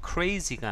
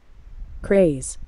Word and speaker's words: craze: 수 있는데 여기서는 보시다시피 스펠링도 craze, 그래서 발음도 crazy가 아니라 같이 한번 들어보도록 하겠습니다. Craze, craze, 예, craze.